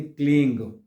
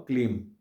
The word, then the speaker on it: क्लीं: जो लगा देते हैं, इस बिंदी को 2 प्रकार से इसको उच्चारण इसका हो सकता है। पहला होता है गकार के रूप में, यानी क्लींग, क्लींग यानी जिसमें ग का उच्चारण आता हो, क्लींग। और दूसरा आता है मकार, यानी इसमें मां का उच्चारण आता हो, क्लीम।